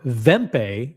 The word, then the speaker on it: Wempe: I'm Wempe, by the way, if you're in New York City, Wempe, or Wempe, if you pronounce it in German, is the go-to destination for Patek Philippe.